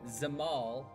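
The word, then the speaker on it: Dzemael: Uh, it so the D is silent. I found that out. So it Zamal asked me to go and deal with some Miloons that have been causing trouble.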